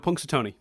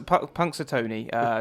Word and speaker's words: Punxsutawney: the name of the town he goes to Punxsutawney punks are punks a Tony to watch they're Groundhog Day ceremony which is